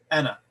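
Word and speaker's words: أنا: n t and finally the first person singular ana this alif is silent the second one anna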